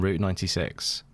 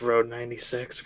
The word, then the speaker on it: Road 96: How about you guys on Route 96? It's Road 96. We've been saying it wrong.